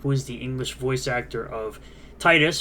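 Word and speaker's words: Tidus: English voice actor of Titus from Final Fantasy 10 yes that is the right way to say it as well as he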